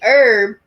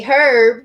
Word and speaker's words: herb: like when we say Erb they say herb because there's actually an H in the word it's spelled completely the same but they actually pronounce the H whereas we don't pronounce the H but you didn't know